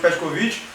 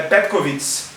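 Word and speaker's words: Petković: A gente chama de Petkovcovit, mas o nome certo é em sérvio é Petkovits, porque o esse C tem esse nome, tem esse esse som, a brasileirão.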